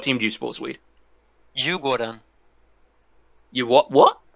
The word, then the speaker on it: Djurgården: Djurgården. You what? What? Djurgården.